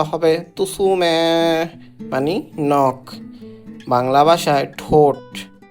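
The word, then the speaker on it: 爪: আঙ্গুল বাংলা ভাষায় নখ নখ জাপানিজ ভাষা হবে তুসুমে মানে নখ হাতের নখ উচ্চারণটা হবে তুসুমে মানে নখ বাংলা ভাষায় ঠোট ঠোট জাপানের ভাষা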